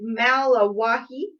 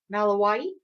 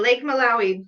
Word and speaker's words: Malawi: oh we won't be hiking um and then i hope i'm pronouncing this right um lake malawahi um that's what i just thought too malawi malawi malawi lake malawi both the largest number of fish species there's